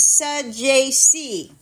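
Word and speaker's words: Saggese: I even went out of my way and looked up how to pronounce this kid's name just in case Tito Luna was here to let me know. Now, his name is Sajazi.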